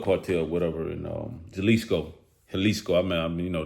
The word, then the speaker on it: Jalisco: And um, Jaliscoco, Helisco, I mean, you know, the J is pretty much silent. Uh, pronounced like a H, you know, pretty much Mexico. So, Helisco.